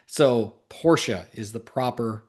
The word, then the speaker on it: Porsche: who the true enthusiasts were and the proper pronunciation. So Porsche is the proper pronunciation.